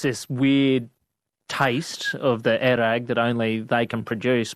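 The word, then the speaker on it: airag: I have had many a crack at so they pronounce it there erag. Yeah. When I was in Kazakhstan, another place they call it kumus, but in Mongolia it's erag.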